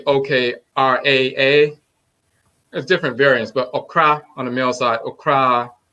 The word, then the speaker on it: okra: It's on the male side is okra, just like the food okra. Oh, okra. Okay. OKRA. Yes. And on the feminine side, it can be OKRAA. There's different variants, but okra on the male side, okra on the female side.